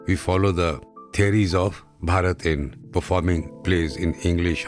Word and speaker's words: Bharata: will discuss about bharata Bharat actually his name is Bharat but in English we pronounce as bharata he was a great